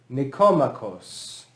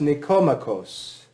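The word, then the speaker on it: Nikomachos: accent is on that first o nico macos nicomachos okay that's the name of the author the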